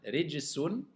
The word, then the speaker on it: رجس: Rijsun.